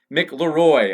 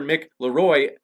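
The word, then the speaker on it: McLeroy: are in Raw and dr. Mickler roy i mispronounced it earlier sorry about that dr. mick Laroy and Aaron rah will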